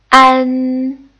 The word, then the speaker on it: an: front nasal final is an and now please note that is not pronounced like man or pan instead it's a little bit like on but with the mouth slightly open wider and and good now